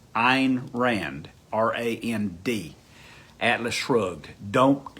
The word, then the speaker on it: Ayn: to you uh ein her name is spelled a a y n pronounced ein ein rand r-a-n-d atlas shrugged